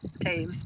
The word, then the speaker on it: Taves: My last name is Taves, pronounced Taves, but it looks like it's toes.